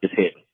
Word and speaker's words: Hedden: So yeah, Rashad, you've been saying it right. It's Hedden.